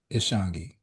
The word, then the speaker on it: Ishangi: Uh tell our listeners the correct pronunciation of your name please my brother. It is Ishangi in Yes.